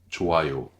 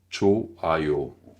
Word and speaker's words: 좋아요: Même jiu léger au début. Encore une fois, faire attention de ne pas faire joyeux. Ça, c'est très français. Donc, 좋아요.